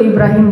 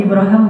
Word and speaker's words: Ibrahim: suaminya sekarang dia Ngomong Ibrahim bahasa Arab itu Ibrahim boleh ibraham boleh itu dua cara baca al-qur'an kan ada qiraat kan Ya jadi kayak bahasa Inggris Abraham itu bahasa Arab aslinya Ibrahim ibraham dua-duanya bacaan yang benar Nah ya Ibrahim kata